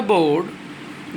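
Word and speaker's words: vowed: उसके बाद आज पढ़ते हैं द महाराजा बोर्ड। देखिए W यहाँ पे साइलेंट है।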